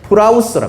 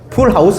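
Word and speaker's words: πραΰς: 헬라어로 한번 기억해 두세요 이거는 프라우스 합니다 뭐라고요 풀하우스 아니고요 프라우스 풀하우스 아니에요 풀하우스 내 발음이 안 좋아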